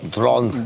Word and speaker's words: Dhroned: Nah, biar nggak standar DRON aja, ejaannya, huruf-hurufnya, ya gue tambahin DHRONED. Drone.